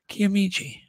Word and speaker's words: Kiamichi: name it's crazy so Uncle bone says it's K kichi there you go that sounds right actually kiamichi yeah doing better than